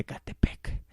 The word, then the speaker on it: Acatepec: de un pueblo ciudad por la españolización del náhuatl usa ahora solamente se pronuncia acatepec cabe mencionar que es